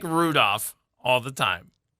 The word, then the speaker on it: Rudolph: There's an L in there. Like wolf. I said Rudolph. No, you did that time. First time you said Rudolph. I look like Rudolph all the time.